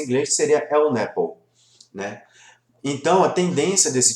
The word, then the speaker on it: LNAPL: Que colocando em sigla seria um LNAPL, que aí ficou muito famoso aqui no Brasil de falar essa pronúncia em inglês, seria LNAPL, né?